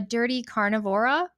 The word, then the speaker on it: Dirty Carnivora: I feel like I should show it, but if anybody's looking, they can find you on Instagram at the Dirty Carnivora.